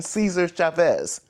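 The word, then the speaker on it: César Chávez: Without a correct pronunciation, Cesar Chavez.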